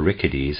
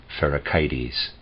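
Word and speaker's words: Pherecydes: would like to say I'm going to pronounce a word for rickety's that's how I was pronouncing it before I decided I want to pronounce it ferric ids and Sai Rosa's sy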